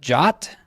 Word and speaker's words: JWT: way, I found out some people pronounce that JOT. I don't know. This is like the new GIF versus GIF argument. I'm going to go with JWT.